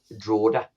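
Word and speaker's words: Drogheda: him again we we picked him up from drao which is like uh like a sister Club really our owners trlla um bought warell and then they also bought the Irish Club drao um pronoun spelled Dred which pronounced drao um so we had Evan we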